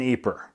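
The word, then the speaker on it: Ieper: That is a French spelling of a word that in French is, I think, pronounced Ypres or Ypres, like that. But they don't speak French in Ypres.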